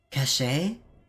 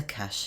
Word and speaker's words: cache: in all weapons cache cache have I been pronouncing it wrong is a cash okay yes what does